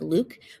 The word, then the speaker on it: Luck: passenger log luck yes in Cantonese our surname sounds more like Luke but the pritish like to pronounce it luck ba had decided to